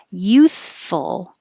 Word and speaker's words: youthful: immature immature youthful youthful so you have to have your tongue a little out or between your teeth to make the th youth so keep the airflow going and when you pull your tongue back in let your top teeth touch your bottom lip youth full and keep pushing air youthful sac useful useful